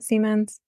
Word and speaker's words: Siemens: good feeling and to go back to um Seamans is that how you pronounce it Seamans yeah to make sure um to go to